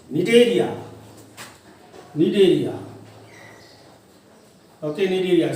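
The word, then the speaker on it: Cnidaria: area need area okay need area see how to pronounce see properly needed here see silent okay then again after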